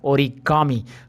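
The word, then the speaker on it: origami: यहाँ पे आपको इंटरेस्टिंग और है, ये वाला देखिए, ऑरिगामी, ये मुझे बोलना है, okay. Now आई गॉट the correct pronunciation. यार कैसे नाम रखते हैं, आप भी ट्राई कीजिएगा इसका, ओरिगामी, ओके।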